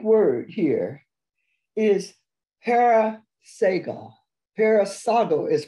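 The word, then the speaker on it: παρεισάγω: down this Greek word here here is paraso paraso is pronounced p a r e i s a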